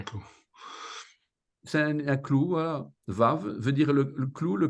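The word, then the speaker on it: וו: C'est la 6e lettre qui se prononce de 3 manières différentes, V, O, U.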